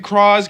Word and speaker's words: Cross: of coming writer crawls and yes I'm gonna pronounce it cross because it clearly pronounces it as crosses in